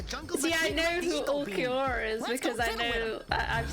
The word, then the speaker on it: Ulquiorra: See, I know who Ulquiorra is because I know I've seen him.